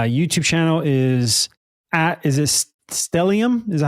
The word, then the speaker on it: stellium: yeah what is that what does that mean stellium stellium is an astrological term uh when you